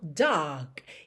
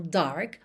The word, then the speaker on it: dark: Atenção, dark e não dark, mas se você quiser, claro, pode enrolar a língua.